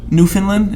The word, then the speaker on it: Newfoundland: resident at my job she's from uh newfoundland newfoundland is how you say it actually and she